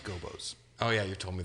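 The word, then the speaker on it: Gobbos: remember also 100 in croc legend of the gabo's and i can't imagine that that is aged well it's pronounced gobos oh yeah you've told me this many times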